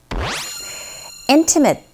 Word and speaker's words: intimate: What do we go for with the first listening point, which is intimate parts of the earth. Intimate. 첫 번째 강세 주시면서 발음하시면 되는데 자, 지금 원어민이 이 화면상에